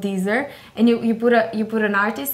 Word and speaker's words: Deezer: So how do you spell that, Deezer? Like Geezer? Z-E-R. Yes, Deezer.